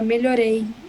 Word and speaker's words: melhorei: Verbos que terminam em ei. Então, por exemplo, melhorei, pronunciei, falei. Você tende a cortar o som da letra I ao final. E eu acho que isso é por causa do espanhol também. Então você fala melhorei. A gente fala melhorei. É bem melhorei.